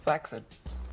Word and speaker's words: flaccid: Flaccid. It's actually pronounced flaccid.